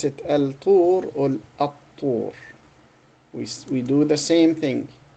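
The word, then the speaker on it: الطور: And so we pronounce it at-tur, at-tur.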